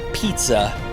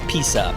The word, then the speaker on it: Pisa: It's not pizza, it's Pisa.